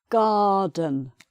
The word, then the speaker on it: garden: The pond in the garden, not pronounced.